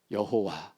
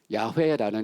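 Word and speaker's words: 야훼: 학자들의 연구에 의하면 야회라는 이름이 원래 이전에 유대인들이 불렀을 그 원 발음에 가까울 거다라고 얘기합니다. 그래서 여호와라는 이름도 부르고 야외라는 이름도 부르잖아요. 똑같은 거예요. 근데 야라는 이름이 더 원문에 가깝다라고 얘기합니다.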